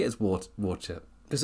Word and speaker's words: Worcester: How did you say it as Worcester? Because it's Worcester over here.